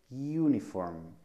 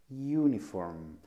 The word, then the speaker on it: uniform: En estos casos también puede ocurrir algo especial, dado que algunas veces la pronunciación no es exactamente el de una vocal, sino el de un sonido a media entre consonante y vocal. Por ejemplo, uniform, uniform o Europe, Europe.